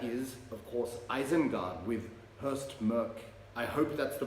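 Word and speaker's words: Høstmørke: it's my understanding that the pronunciation of that particular character, it's like the umlaut above the O in German, so So Hurst Merk, but Norwegian viewers and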